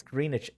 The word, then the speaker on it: Greenwich: It's Greenwich.